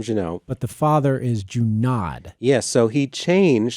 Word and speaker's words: Junod: Yes, so the son changed the pronunciation of his name in college. He was taking a French class, and the teacher started pronouncing his name Junod, and he said, I like it, I'm going to change it. And so when he changed the pronunciation of his name, all of his family was like, who do you think you are, changing your name to something fancier?